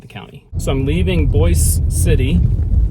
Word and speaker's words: Boise City: county so I'm leaving Boyce City looks like Boise city but it's pronounced Boyce city which is the county